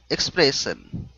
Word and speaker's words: expression: Keeping a dead pan expression Okay Now the double S with the io N That's an H sound Expression Keeping a date